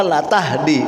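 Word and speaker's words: لا تهدي: Perhatikan ayat yang sudah, innaka la tahdi, lamnya enggak panjang bacanya, bukan lam nafi, bukan lam mananya tidak, sungguh.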